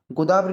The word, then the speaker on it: गोदावरी: गोदावरी नहीं होता भाई, गोदा गोदवरी नहीं होता भाई, गोदावरी होता है, गोदवरी नहीं होता, गोदावरी होता है।